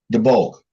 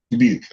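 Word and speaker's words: Dubuque: Fort Dodge, Waterlue, and Debb where I can't pronounce it right. What is it? Debulk. Du B. Deuke. Debuke.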